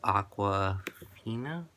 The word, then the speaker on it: Awkwafina: her name now I think it's aqua FINA that was how you pronounce it yes uh awkwafina I